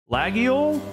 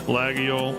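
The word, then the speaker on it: Laguiole: But these are French Lagio, I guess, is how you um pronounce it. Let's see if it'll Yeah, Lagio.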